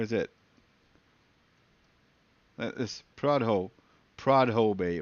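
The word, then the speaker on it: Prudhoe: name to me because I'm pronouncing it wrong I'm saying prud ho prude ho Bay whatever it was it's PR ho or something like that but I'm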